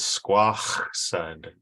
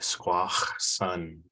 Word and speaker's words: Squaxin: The name of our tribe comes from is Squaxin, but the older way of saying it was similar to how you say it in English, Squaxin. So the older way would be Squaxin.